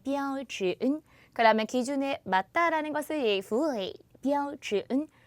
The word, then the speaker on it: 符合: 발음 어떻게 한다? 符合. 꼭 들어맞는 것을 말해요. 다시 한번 符合.